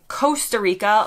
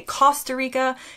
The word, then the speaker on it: Costa Rica: so just know that we do say the O differently similar to how many Americans would say Costa Rica like cost R and many Brits would actually say Costa Rica so this difference in